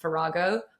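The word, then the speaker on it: farrago: And actually, the word is pronounced farago, but we chose the word on Google without listening to it. And six months we were calling it fargo.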